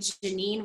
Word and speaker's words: Geneen: So for those of you who are wondering about that quote, it's from a woman named Janine Roth, and her name is spelled Geneen, and her last name is Roth, Roth.